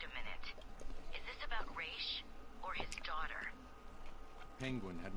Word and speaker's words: Ra's al Ghul: It's Dark Side and Raish, sir. Don't listen to those Nolan films lying to you, telling you that it's pronounced Raz.